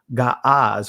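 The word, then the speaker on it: Ge'ez: with the consonants likewise ancient gaas which is pronounced geese today and it's referred to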